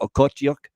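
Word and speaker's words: Okhotiuk: pahal and a lot of youngsters uh Nikita otuk that's how you say it he might be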